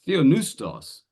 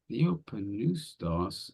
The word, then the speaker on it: theopneustos: and for some reason he pronounces the word theopneustos as theonoustos. And I'm thinking, what? He's like theopneustos, and he's just dropped the P, and it doesn't make sense to me.